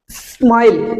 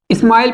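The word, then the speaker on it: smile: और कई बार और इसे बोलेंगे हम स्माइल स्माइल स्माइल तो कई बार क्या करते हैं स्टूडेंट गलती कर देते हैं इसे ऐसे प्रोनाउंस कर देते हैं स्कूल और इसे स्माइल प्रोनाउंस कर देते हैं जो गलत है ठीक है गाइस इसे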